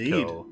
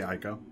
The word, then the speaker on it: Ico: Eco, or depending how you pronounce it. Welcome How do you pronounce it? I'd tend to say Ico.